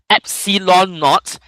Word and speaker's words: epsilon naught: It's not 0, When you see 0 at the bottom, it's always written as naught. Epsilon naught is how you pronounce it.